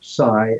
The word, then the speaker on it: psi: general term for ESP the Greek letter Sai is spelled PSI yes um and a